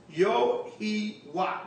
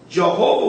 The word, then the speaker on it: Yahawah: YAHAWAH, which is Yahawah. Really, we just broke that down. That this seems to be the true Hebrew pronunciation of the divine essential name, Yahawah. Jehovah will appear more obvious